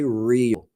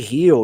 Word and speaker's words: Rio: When I speak English, I try to use the pronunciation of the English language, the American English language. So I'm going to say Rio. Because if I say Rio, you can think about healing, you know?